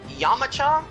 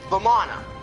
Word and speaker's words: Vamana: Yamacha, I believe is how you say his name? No, not Yamacha. That's from Dragon Ball U. What's his name? Vamana.